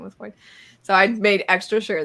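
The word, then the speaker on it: Hoid: He does say his name is Hoyt.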